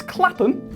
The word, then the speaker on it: Clapham: When you see the word ham at the end of the name, it's actually pronounced Okay, so Clapham is Clapham.